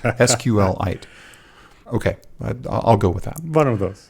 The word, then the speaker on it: SQLite: want to pronounce it I heard today that's actually SQL like meteorite sqlite okay I'll go with